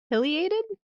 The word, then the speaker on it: pileated: This bod is the pileated.